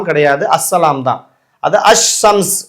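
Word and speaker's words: الشمس: கிடையாது அஸ்ஸலாம் தான் அது அஸ்ஸம்ஸ் இந்த இடத்துல அல்சம்ஸ் கிடையாது அஸ்ஸம்ஸ் தான் அதே மாதிரி அஸ்வலா அப்படித்தான் உச்சரிக்குமே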